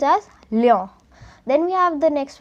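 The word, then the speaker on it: Lyon: it as cule egrek o n it is pronounced as Leo then we have the next one g r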